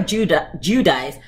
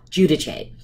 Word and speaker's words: Giudice: the show Teresa Giudice they call her Judah Giudice but you know if your Italian is pronounce Giudice she found this book